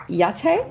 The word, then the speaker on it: YAITTE: You are the head of global sales for Yate.